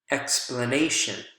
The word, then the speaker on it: explanation: Explain, explanation, explain, explanation. So you can see here as well, it shifts from the second syllable over to the next syllable over, right? Again, also right before the suffix.